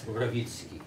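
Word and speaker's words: Mrowicki: And if you can pronounce it in Polish, I'll... send me some chart. It's Rawicki.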